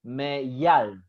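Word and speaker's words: מיל: So together with YA, we are going to pronounce it ya. Ya. So me, ya. And then, as I said, this L becomes the closing syllable, the closing sound of the second syllable. So it's not me, ya. It will be me, yal. Meyal. Yeah, me, yal.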